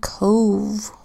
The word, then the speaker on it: cove: We've got the letter C that makes the hard C sound k because it comes before the letter O. That makes a long O sound O because the word ends with a silent final E.